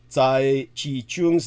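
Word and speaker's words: Tsai Chih-Chung: Tsai Chi-Chung's name is spelled T-S-A-I, like the weapon, the Tsai. Middle name, Chi, C-H-I-H. And surname, Chung, C-H-U-N-G. Think of Chung King and you'll be able to spell it for all you Westerners out there. Tsai Chi-Chung, without the Chung King.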